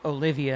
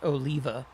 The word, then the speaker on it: Oliva: Back in the day when I first started, somebody called him Olivia, and that threw me off. And I've since learned it's Oliva.